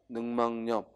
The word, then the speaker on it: 늑막염: 폐렴이나 늑막염, 늑막염이 아니라 뭐야? 늑막염. 역시 니은 첨가가 일어나서 늑막염.